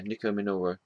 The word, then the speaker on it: Nico Minoru: Is that how you pronounce her name? Yeah, Nico Minoru.